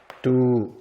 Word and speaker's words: ดู: 그래서 발음은 두.